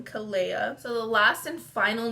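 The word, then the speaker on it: Kaleia: So this name is Kalia, so like Alea but with a K, so I would spell it K-A-L-E-I-A, Kalia.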